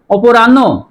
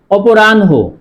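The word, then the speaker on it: অপরাহ্ণ: শুদ্ধ উচ্চারণ কি হবে অপরাণ না অপরাণহ শুদ্ধ উচ্চারণ হবে অপরাণহ। অপরাণহ কেন হবে? এইযে হ এর সাথে মূর্ধন্য যুক্ত আছে। হ এর সাথে যেই বর্ণই যুক্ত হবে সেই বর্ণটি আগে উচ্চারণ হবে।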